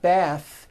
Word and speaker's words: bath: smooth bathe the word bath is a noun with an unvoiced th bath but when you change